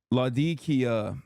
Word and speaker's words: Latakia: Latakia, that's how you pronounce Latakia area in Syria.